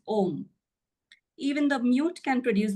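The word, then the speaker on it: ॐ: In Sanskrit grammar, A and U coalesce to form O. Thus, A, U, M together is pronounced as Om.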